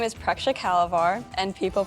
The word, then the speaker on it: Preksha Kalvar: My full name is Preksha Kalavar, and people pronounce it Preshka.